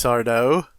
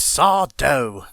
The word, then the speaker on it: Sardo: no you can't replace sardo it's sawdo no mr accent on the dough i'm losing out on